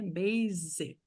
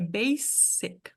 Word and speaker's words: basic: Basic, aqui. Mas nessas palavras aqui, o S tem som de S forte, um S normal. É basic, basic.